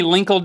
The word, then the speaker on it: Linkle: Can you call me Linkle during this episode? I'd like to. Rhymes with tinkle. Tinkle, Linkle.